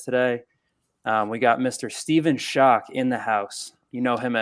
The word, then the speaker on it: Schoch: And then I'm learning your last name is pronounced Schoch, which that was a shock to me.